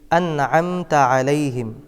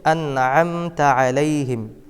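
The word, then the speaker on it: أَنْعَمْتَ عَلَيْهِمْ: শুদ্ধভাবে দেখাচ্ছি সিরাতাল্লাজিনা সিরাতাল্লাজিনা আনআমতা আলাইহিম অনেকে এখানে পড়েন আন আমতা আলাইহিম আইনের জায়গায় হামজা পড়েন এটা একটি মারাত্মক ভুল এক হরফের জায়গায় অন্য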